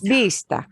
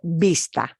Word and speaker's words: vista: And when you want to pronounce it, vista, vista, vista, vista. Bien. And that V will sound like a letter B, but soft.